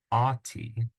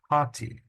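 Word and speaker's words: ὅτι: H in Greek but the H sound is going to be communicated or reflected with this rough breathing mark so this word begins with an Omicron but it's not pronounced ATI it's pronounced hati because you got the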